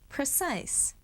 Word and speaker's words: precise: Precise. Remember the silent e at the end of the word makes the i long screen.